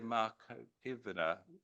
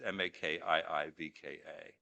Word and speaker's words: Makiivka: This past New Year's Eve, a dormitory full of fresh Russian army recruits in the city of Makivna, I can't pronounce it, sorry, it's Makiivka, was hit by missiles